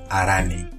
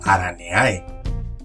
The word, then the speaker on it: Araneae: Orden Araneae, a veces mal pronunciado como Araneae.